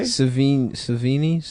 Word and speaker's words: Sevigny: Savini? How Yeah. do you say it? Chloe Savini. Savini. No, Yeah, it's No, it's not. Sevigny.